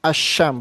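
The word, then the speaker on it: الشمس: When all is prefix to a noun beginning with a solar letter, the all-nya of all is assimilated. Ya, jadi diasimasi itu solar letter. In example, alsyam is pronoun asyam bukan alsam ya.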